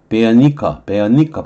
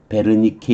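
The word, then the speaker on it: Wernicke: 브로카스 에어리어와 베어니커 발음은 베어니커 이렇게 할 거예요. 베어니커 에어리어. 근데 우리말로는 베르니케 이렇게 얘기하는데 이건 브로카, 요거는 베어니커 이렇게 발음할 거예요.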